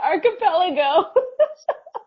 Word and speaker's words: archipelago: I think it's I think it's ar ar no no no it's archipelago AR okay this is now something that I need to ask Siri hold on a minute hey Siri how do you pronounce AR archipelago it's archipelago archipelago archipelago there she goes okay let me remember